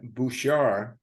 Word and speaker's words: Bouchard: Anyway, and this is Malcolm Berman, who is your co-host with Bouchard. Don't pronounce the last D.